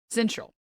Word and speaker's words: syncytial: I might be mistaken the pronunciation on this one. Double-check this. Syncytial. All right. No c No hard c there.